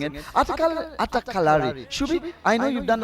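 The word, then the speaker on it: Attakkalari: I think Shubi does a finer job of pronouncing it. Atakalari.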